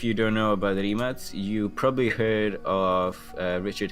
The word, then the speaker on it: Rimac: excites me very much which is the new Rimac, or as it's incorrectly pronounced, Rimac or Rimac.